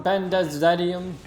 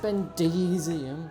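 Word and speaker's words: Bendezium: rubble made of something benders radium don't spamming comments it's pronounced Bendis iam please don't we also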